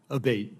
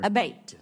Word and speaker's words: Abate: I saying your name properly we've heard it pronounced three different ways today in the hearing aate Senator aate okay thank you um you had mentioned a